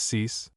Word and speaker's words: six: 6 pronounced cease.